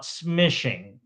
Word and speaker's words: smishing: So, instead of calling SMS, we call it smishing. and it rhymes with fishing.